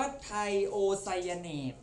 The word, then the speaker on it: ไทโอไซยาเนต: ตั้ง แต่ อังกฤษ ละ อ่าน ว่า ไทโอไซยาเนต นะ ครับ ที นี้ ดู นะ